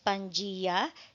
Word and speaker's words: Pangaea: When we were in elementary, naririnig natin Pangaea. So it is pronounced as Pangea, spelled as Pangaea.